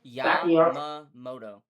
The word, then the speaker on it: Yamamoto: How do I pronounce his name? Yamamoto.